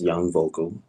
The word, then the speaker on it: Young Vokal: It's pronounced Young Vocal.